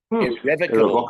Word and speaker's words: Irrevocable: In the last race of the day, number 2, Irrevocable Dream, or as it's pronounced in the Collins English Dictionary, Irrevocable Dream.